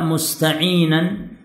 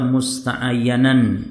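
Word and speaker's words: مستعينا: Wa makna Bismillahirrahmanirrahim, kata beliau, dan makna Bismillahirrahmanirrahim ay af'alu syai'a musta'inan. Antum harokati yang benar, jangan salah baca, jangan dibaca musta'ayyanan. Bisa jadi antum salah baca, dibacanya musta'ayyanan, ya, salah.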